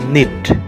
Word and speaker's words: knit: KNIT, निट, यहाँ K silent है।